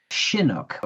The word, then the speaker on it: Chinook: It's pronounced shinook without a ch for those.